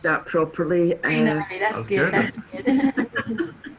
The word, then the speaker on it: Shrinari: And I'm just hoping I've pronounced that properly. Shrinari, that's good.